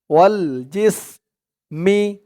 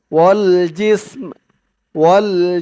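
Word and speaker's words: وَالْجِسْمِ: ধরবে জিস ওয়াল জিস ওয়াল জিস মি এই চিহ্নতে অক্ষফ করার কারণে থামার কারণে উচ্চারণটা ওয়াল জিসমি এরকম হবে না উচ্চারণটা হবে ওয়াল জিসময় জিসম মিমের উচ্চারণটা মিমের আওয়াজটা লাস্টে একটু ভাসবে মানে এই জিম দিয়ে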